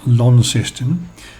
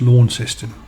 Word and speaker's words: Launceston: closer just my way of explanation launceston is pronounced launceston system which has the same spelling is a